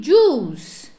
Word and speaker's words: juice: I drink juice. Juice, não pronuncio o I do juice, gente.